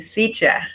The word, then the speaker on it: Cíntia: Irmã Cíntia, estou pronunciando correto o nome da irmã? É Cíntia mesmo? Corretamente, Cíntia.